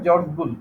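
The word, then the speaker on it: George Boole: ইংরেজ গণিতবিদ জর্জ বুল, উচ্চারণ হবে হবে জর্জ বুল, লিখতে হবে BOOL।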